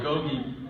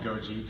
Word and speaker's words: Gogi: at the time that people might not be able to pronounce it correctly I thought how did you mispronounce that there you go everybody calls it Goji drives me crazy I